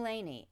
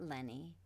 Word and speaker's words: Laney: It's Laneany, not Lenny.